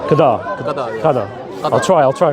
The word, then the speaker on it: Qadar: How do you pronounce it? Qada. Qadar.